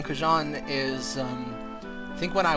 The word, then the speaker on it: xujhan: But yeah, the original canonical pronunciation of xujhan from when I invented the name is xujhan.